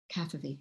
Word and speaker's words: Cavafy: How do you pronounce his last name? Cavafy, okay.